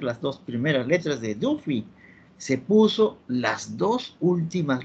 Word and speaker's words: Duffy: Por ejemplo, se mencionaba del sistema Duffy, se escribe así, Duffy. Nosotros leemos, ya nos hemos un poquito distorsionado, un poquito no estamos en English, digámoslo así, decimos Daffy, ¿no?